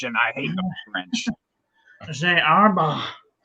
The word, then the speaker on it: Herbin: Oh, Gerban. Gerban, because it's French, and I hate the French. Arba. You're not supposed to pronounce the N. Arba. Or the H.